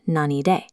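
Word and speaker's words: 何で: When asking how or by what means, the characters are pronounced nani de.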